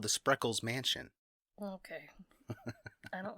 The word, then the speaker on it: Spreckels: i don't like it sprinkles spreckels yeah feels like you up trying to say sprinkles or speckles it was a 12